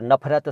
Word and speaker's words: नफ़रत: तो नफ़रत लिखते वक्त हिंदी में अगर फ के नीचे नुक्ता लगा दें तो बहुत अच्छा है, वरना वो नफ़रत पढ़ा जाएगा और नफ़रत सही उच्चारण नहीं है, नफ़रत है, नफ़रत।